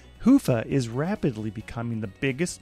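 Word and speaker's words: Hyvä: calculations to Commerce is sponsored by hia or as the European say Hua or the right way to say it hufa is rapidly becoming the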